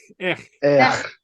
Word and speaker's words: each: Ech. Okay. You got the spelling right, but not the pronunciation.